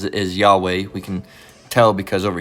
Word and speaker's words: Yahweh: so she's got that all right what she pronounces is Yahweh we can tell because over here if we